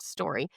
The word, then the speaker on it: STQRY: We also have a platform called Story, STQRY, but it's pronounced Story.